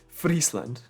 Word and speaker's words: Friesland: milkshakes, and it's called Friesland. Friesland. How do you say it? Like Ireland. Friesland. Not Ireland. It's Friesland. No, it's Friesland.